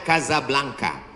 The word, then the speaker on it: Casablanca: kuliah nama negaranya Maroko ibukotanya tulisannya Casablanca cara bacanya Kasablanka Kaza artinya rumah blanka